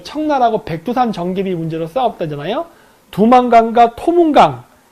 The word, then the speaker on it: 두만강: 두만강과 토문강, 이 이름을 가지고 서로 싸웠다고 하는데 두 발음은 같은 발음입니다. 두만강도 토문강이고 토문강도 토문강이에요. 원 발음은 투만입니다.